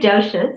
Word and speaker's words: doshas: Right, the 3 doshas is how you pronounce it.